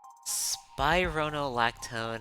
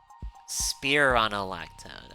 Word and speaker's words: spironolactone: There's like spironolactone and spironolactone. Okay. There's like two different pronunciations for it apparently. Huh. So it it could go either way. Spearronolactone.